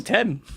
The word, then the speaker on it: Thames: And like the River Thames, it's spelled Thames. The river, like... But it used to be spelled Thames. How, like, like... Hi! Temes, I think it is. I'm Tem. Yeah. The River Tem.